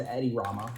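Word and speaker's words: Edi Rama: The uh so the current leader is Eddie Rama.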